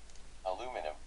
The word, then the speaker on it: aluminum: So if I wanted David to pronounce it correctly for his accent, aluminum, I could spell aluminium incorrectly to make him pronounce it correctly.